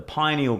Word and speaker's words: pineal: pyramids is the same shape as is it pineal gland? Is that how you pronounce it? Yeah, pineal.